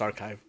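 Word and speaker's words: arXiv: to pronounce it because ax ar x iv pronounced archive oh but they they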